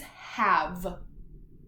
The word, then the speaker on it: have: first vowel Said's name this is that first grade word that I said that it's just good to memorize the word because it doesn't follow this rule our word is have do you remember that